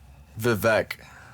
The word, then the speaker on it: Vivek: Vivek. Right. That's how his name is pronounced. Vivek? That's Yeah. like kind of my name in backwards, but instead of a N, V.